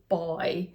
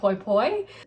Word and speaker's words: Poy: The correct pronunciation is actually boy. People in Thailand call me boy, and people over here, my friends in grad school, call me Poy, and you just call me Poy.